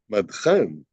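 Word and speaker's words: מדחן: Let me just make sure I'm pronouncing it correctly. Madchan, parking meter. Let's see. Madchan. Okay, so yes.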